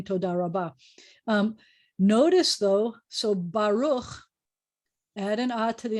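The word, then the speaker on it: ברוך: what happened we have baruch two syllable words the accents at the end of the word so the tonic is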